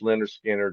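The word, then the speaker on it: Lynyrd Skynyrd: But uh yeah, over the years uh I mean I love all the stuff they did, but Pronounced Leonard Skard really the debut record is my favorite from the band.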